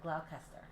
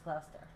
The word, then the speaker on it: Gloucester: But I think everybody was pronouncing it Gloucester or something like that. Gloucester? Yeah, I think they call it Gloucester, but it's Gloucester.